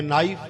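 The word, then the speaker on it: knife: silent तो समझो य नाइफ के एन आई ए के साइलेंट नाइ याने चाकू अंग्रेजी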